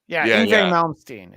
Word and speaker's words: Yngwie Malmsteen: And I was looking through the list of people that are going to be there, and Yingwi Malmsteen, or however it's. Yngwie Malmsteen is how you say it.